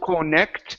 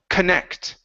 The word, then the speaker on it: connect: would be for example the word connect we don't say co connect it's C connect connect stress is on the end of the word okay that's a that's